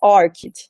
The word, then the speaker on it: ORCID: diferentes, né, esse nome, algumas falam ORCID, outras falam ORCID, eu assisti alguns vídeos da própria organização, tive uma conversa com a presidente do ORCID no ano passado, e a pronúncia certa, né, para quem se preocupa, né, com isso, é ORCID, tá certo?